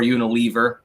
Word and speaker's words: Unilever: Jerry's is getting booted from Unilever um or Unilever I've heard it pronounced both ways and it doesn't really care